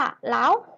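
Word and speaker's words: 老虎: เสือ นั่น เอง นะ คะ ออก เสียง ว่า เล่า ฮู ล่า ฮู นัก เรียน ออก แจ้ง ตาม เรา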